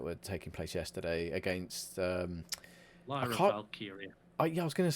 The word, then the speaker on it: Lyra Valkyria: I was going to say I can never pronounce her name properly because I kind of want to call her Lyra Valkyrie, but it's not. Yeah, I always go with Lyra Valkyrie, and it's not.